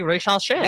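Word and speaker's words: Risacher: It's Zachary Risache. Why are those the only 2 options? Because that's just how you say it. He's French. He's Risache.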